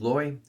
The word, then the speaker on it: Loi: I think you pronounce this as Loi, L-O-I.